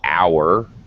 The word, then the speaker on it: hour: in english of course in some words we do not hear the age for example uh an hour 60 minutes is an hour you you don't hear the h but in some cases